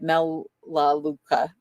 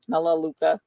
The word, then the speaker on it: Melaleuca: Melaleuca. Melaleuca. Oh, my goodness. My pronunciations are so bad.